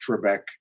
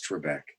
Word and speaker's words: Trebek: a few years back and she did not pronounce Trebek the way I pronounce Trebek so I've gotten used to it there that